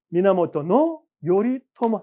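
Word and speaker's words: 源頼朝: 이게 미나모토 요리토모입니다. 미나모토노 요리토머 아침 조짜를 토모라고 돼 있습니다.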